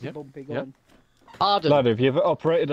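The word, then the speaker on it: Hawarden: It is that station, but it's not pronounced like that. Harwarden.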